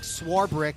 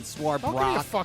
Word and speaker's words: Swarbrick: Number 6, Notre Dame Athletic Director Jack Swarbrick. Did I pronounce that right? It's not Swarbrock or Swarbrick.